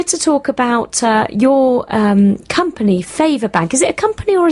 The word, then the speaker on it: Favabank: So Favabank is a website, and it's spelt favour as in F-A-V-A, but it's a website